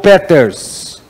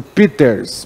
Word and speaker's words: Peters: do alemão ao anotar peters muita gente chama de peter's mas a pronúncia certa é peters porque ele é alemão peter se ele